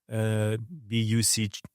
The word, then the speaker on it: Bucha: So many people may have heard about Bucha, Bucha. That's how we spell it in Latin alphabet, Bucha, and some people call it Buka.